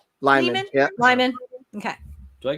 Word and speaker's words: Lehman: I never know how to pronounce his last name. Lyman? Lyman.